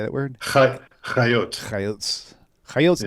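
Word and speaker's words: חיות: Chayot.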